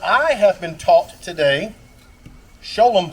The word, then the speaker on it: Sholom: have been taught today show them Park not Shalom although you can pronounce it either way I learned that